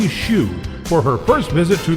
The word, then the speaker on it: Shiu: I should have asked her how to pronounce her name before we started. Is it Shiu? No, it's Shiu.